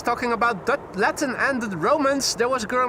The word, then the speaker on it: roman: Roman pronounced in the Dutch way.